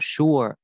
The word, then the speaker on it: sure: Cái từ sure này có hai cách đọc ha. Anh Mỹ người ta đọc là sure, đó là sờ sờ nặng này, cái âm sờ nặng cộng u u u và âm ơ. I'm not sure đó, các bạn cong lưỡi, I'm not sure.